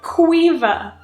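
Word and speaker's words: Caoimhe: an overlay when I'm editing qua she said Quiva Quiva I don't see a v i don't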